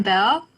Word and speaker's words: Belle: So we can see Billy. Am I pronouncing it right? Bill or Billy? Yeah, I'm Belle. Bell.